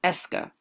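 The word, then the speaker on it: est-ce que: more formal and again the pronunciation of the entire expression is ESCA nothing more nothing less ESCA is used directly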